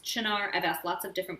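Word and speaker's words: Cynar: it some people say cinar some people say china chinar is probably the italian way the correct way to say it but it looks like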